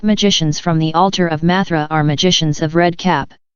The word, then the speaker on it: Mathra: Mathra is the password for those of 4th degree, which they pronounce Mazra, and which is the lost word for the black magicians.